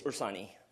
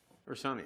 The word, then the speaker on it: Ursani: and speak after Ursinal. Did I say that correctly? It's Ursani. Ursani, oh, okay.